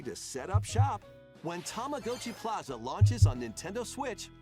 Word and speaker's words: Tamagotchi: Tamagotchi. It's Tamagotchi.